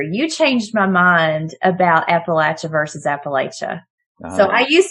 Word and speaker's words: Appalachia: it it sounds beautiful it just happens to be pronounced Appalachia where I'm from I